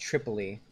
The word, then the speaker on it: Tripoli: It's pronounced Tripoli.